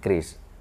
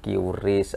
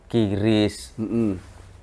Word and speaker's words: QRIS: Nah, KRIS ini macam-macam sih cara orang baca itu. Ada yang QRIS, ada yang bilang KIRIS, ada yang KRIS. Terus nanti ke depannya kita sepakat aja bahwa kita bacanya cukup dengan KRIS.